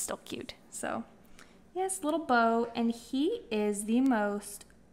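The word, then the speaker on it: Beaux: Yeah, so our dog, Beau, and it's spelled B-E-A-U-X.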